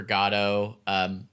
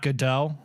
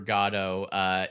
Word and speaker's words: Godot: definitely read Waiting for Godot which I found out that is the that's how they pronounce it in Europe which to me I think makes it the official pronunciation so it's not good dough which is what I